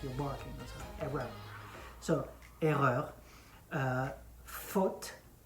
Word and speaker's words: faute: So erreur, faute, faute. It's written F-A-U. It's pronounced faute, just like in English, fault.